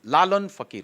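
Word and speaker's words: Lalon Fakir: Lalan Fakir, the pronunciation was not right when the announcement happened. It is Lalan Fakir, Lalan Shah Fakir, Sufi.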